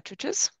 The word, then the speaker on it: Cucuz: US and in the USSR, written by Diana Cucuz. I pronounce it correctly, thank you.